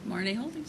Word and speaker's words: Marnee Holdings: Marnee Holdings, am I saying it right? Marnee Holdings.